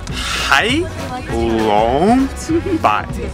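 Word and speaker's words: Hạ Long Bay: we all went to halong Bay it's pronounced hi by not to see the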